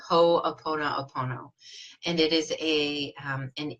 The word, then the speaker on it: ho'oponopono: I love it's changed my life it's called ho'oponopono and it is a an ancient Hawaiian tradition